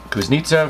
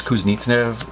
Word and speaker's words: Kuznetsov: Kuznetsov, I keep saying his name wrong. It's Kuznetsov, Wilson.